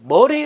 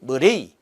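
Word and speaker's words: Murray: 첫 번째, 머레이 루프법, 머리 루프법 혹은 머레이. 그래서 영어로 한다면은 그래서 머레이라고도 발음이 되겠죠.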